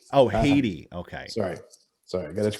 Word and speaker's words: Haiti: It's pronounced Haiti. Oh, Haiti.